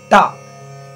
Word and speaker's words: ta: The third syllable on the right side is ta, T-A.